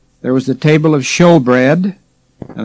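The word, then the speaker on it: shewbread: was the table of showbread and that's spelled s-h-e-w but don't call it shoe bread it's show bread there was the lamb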